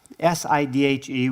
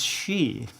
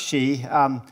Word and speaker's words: Sidhe: So traditionally, the Shee, S-I-D-H-E, which of course I pronounce Sidhe, for a long time to John, who finally reminded me, or he finally corrected me.